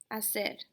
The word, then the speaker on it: hacer: Hacer. It is not hacer. H is silent.